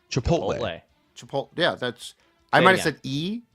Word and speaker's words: Chipotle: my best to participate and I do like chipotle sauce it's just funny though that you have